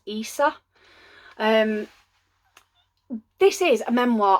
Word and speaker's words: Isa: I'm sure she says in the book it's pronounced ISA um this is a memoir of a cam